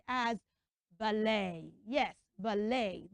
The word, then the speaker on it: ballet: a French word and it ends with letter e t so instead of pronouncing it as at you pronounce it as a so let me make